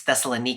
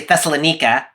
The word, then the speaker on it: Thessalonica: Amy, I just said the name of the city as Thessalon.